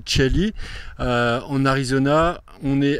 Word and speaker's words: Chelly: je vous présente le canyon de chai alors ça c'est écrit en français les gens prononce canyon de Chell en Arizona on est